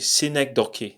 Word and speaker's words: synecdoche: was about the figure of speech scenic Doki synecdoche that's how it is pronounced and what is a cynic talkie that's